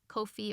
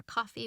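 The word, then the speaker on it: Ko-fi: link down there for my Kofi or coffee whichever pronounciation you prefer if you'd like to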